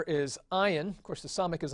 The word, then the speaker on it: ayin: Ayin is also a silent letter. Again, they pronounce it in Arabic today. And the way one person describes the pronunciation of an ayin is incipient vomiting. And indeed, it does sort of sound that way to us. It's an ayin. It's real deep down in the throat as you pronounce it.